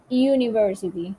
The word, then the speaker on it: university: the hour is silent at university the eu in the beginning of the university sounds like you the rules apply to